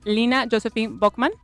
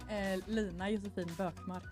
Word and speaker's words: Lina Josefin Bökmark: We have all the way from Sweden, we have Lina Josephine Bockman. Hello. Is it that pronounced correctly? Almost. How it would be? Lina Josefin Bökmark.